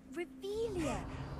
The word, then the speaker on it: Revelio: Rebellion. You're saying it wrong. Ugh, Revelia. Much better.